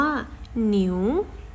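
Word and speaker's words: 牛: คะ อ่า ติ๊กต๊อก ติ๊กต๊อก และ วัว ภาษา จีน ออก เสียง ว่า หนิว หนิว เพราะ ฉะนั้น ถ้า เรา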